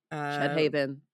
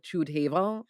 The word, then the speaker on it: Chüdhaven: and then, but also the way it's spelled is with an umlaut over the U, and so it's like Chüdhaven, kinda thing, like, it's supposed to be fancy, but you're like, even